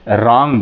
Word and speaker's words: wrong: Next आएंगे आप रॉन्ग, रॉन्ग WRONG, आर के पहले डब्लू है, इसलिए जो हम डब्लू का प्रोनाउंसिएशन नहीं करेंगे, रॉन्ग बोलेंगे। रिस्ट, WRIST, रिस्ट मीन्स कलाई